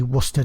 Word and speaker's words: Worcester: about somebody's course linen shirt or is heavy Worcester trousers that's how you pronounce it by the way from I transatlantic